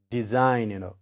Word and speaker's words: design: When saw sound is between vowels, like here is E and I, generally we pronounce as jaw sound. So it becomes design, design.